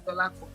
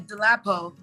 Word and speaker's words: Dolapo: So why not go pronounce Dolapo, 3 syllables? So at that point, I was like, you know what? It is what it is. Dolapo is the name. So they would say Delapo, Delipo.